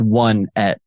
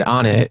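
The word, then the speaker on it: Onett: But phonetically, that doesn't, you would never say one at. Exactly. I always said Onet.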